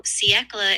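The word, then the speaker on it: siècle: So, seckla is a French word. It's pronounced something like ckla.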